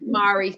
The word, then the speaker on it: Marie: Mary. It's spelled Marie, but my mum named me Mary.